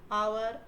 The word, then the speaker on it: hour: So now, though H is a consonant, in words like hair, hour, honor, and honest, the letter H is silent.